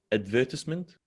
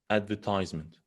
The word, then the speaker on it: advertisement: This is called advertisement in British English. Americans say advertisement. So both of them are correct.